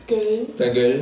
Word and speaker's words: ta gueule: Ta gueule. Ta gueule. Ta gueule. Ta gueule. Ta gueule. Es más grave como ta gueule. Ta gueule. Ta gueule. Ta gueule. Ta gueule. Hey, ta gueule. Ta gueule.